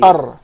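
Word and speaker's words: ر: So once again, the makhraj, or the origin of the Ra, it's articulated from the tip of the tongue with what lies opposite to it of the gums of the two front top incisors.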